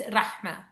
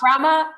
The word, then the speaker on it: Rahma: In Arabic, it's Rahma. So, strong Rahma and Rahma, but Rama is totally fine.